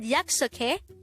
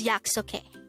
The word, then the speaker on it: 약속해: okay yeah it's okay this is pronounced as the three syllable word the first syllable is yak second syllable is and the third syllable is hey pronounce it with me the word yaksuke is the action of